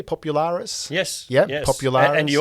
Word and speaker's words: Popularis: and of course do i say it correctly popularis yes yeah popular and you also said greta's